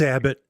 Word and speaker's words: Abbott: States illegally according to Greg Abbot like Abbott and costell I can't pronounce guy's last name for life of me it's Abbott so court against again over